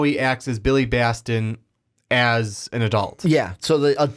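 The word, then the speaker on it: Batson: I keep wanting to say Bastion because of Overwatch. Yeah, I do too. I keep Billy Baston, yeah. It's Billy Baston.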